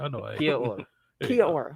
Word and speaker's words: Kia ora: Kia ora. Kia Yeah. or Mhm. Kia or? Yeah, I sure ain't saying that shit right. I know. I ain't. Kia ora.